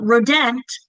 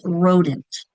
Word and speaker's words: rodent: It's not rodent, it's rodent, right? That's going to have the I sound.